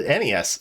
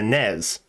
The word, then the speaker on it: NES: what about the the NES it's not the NES either it's the Nez I hate it too okay I get